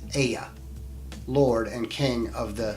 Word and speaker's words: Ea: They crossed into our world long ago under the Sumerian name Ea, pronounced Ea, Lord and King of the Sea.